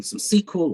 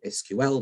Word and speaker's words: SQL: Some SQL or SQL, depending on pronunciation, you prefer, on databases and basic database management in course one.